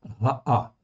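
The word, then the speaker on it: רעה: Et on prononce dans ce cas-là ra'a, qui existe d'abord pour exprimer le féminin de l'adjectif ra.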